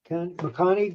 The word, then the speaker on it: Maccani: Maccani.